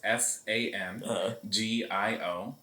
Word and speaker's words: Sangiovese: So it's Sangiovese.